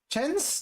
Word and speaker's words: Chen: Yeah, Chen Qianyu is a different, different thing, but okay, it's pronounced Chen, by the way, in Chinese, not Chen, like we usually do for a lot of like the stuff and all that.